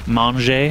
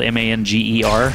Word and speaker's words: manger: Manger is to eat. Manger. But it's spelled M-A-N-G-E-R, which would be manger in English.